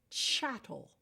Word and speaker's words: chattel: Because for a long time and in a great part of the world, women were chattel. Rhymes with cattle, means sort of the same thing.